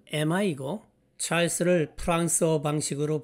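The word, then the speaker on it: Emma: 참고로 엠마의 영어식 발음은 에마이고 찰스를 프랑스어 방식으로 발음하면 샤를입니다.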